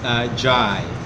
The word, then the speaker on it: Ndiaye: Ndiaye. N-D-I-A-Y-E. It's a very difficult name to pronounce.